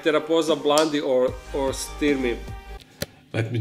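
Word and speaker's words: Theraphosa blondi: species are known to cause great irritation like teraa blondi or or sty let me just correct myself it is pronounced teraa blondi they are known for their size but also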